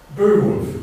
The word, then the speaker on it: Beowulf: If you go on to the first poem, I talked about this over lunch, that we have in English, Beowulf, which is the correct pronunciation of that.